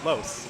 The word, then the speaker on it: Los: I found out their name is pronounced Los. I asked for clarification on how to pronounce their handle, Los.